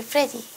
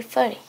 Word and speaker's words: pretty: I think I'm very pretty.